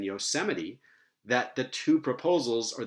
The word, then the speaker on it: Yosemite: It's only in unusual phonological patterns, like third to last stress, as in Yosemite, that the two proposals or the two generalizations are going to differ.